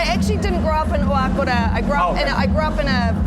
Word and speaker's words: Oakura: Oakura, very good pronunciation.